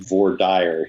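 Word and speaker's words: voir dire: all of his books is vwadir is that how you say it james i'm in kansas it is very often four dire here but a lot here is correct all right well we'll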